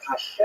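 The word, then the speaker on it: השם: The word Hashem, of course, is pronounced with the letter H, but there is no letter H in the Russian alphabet.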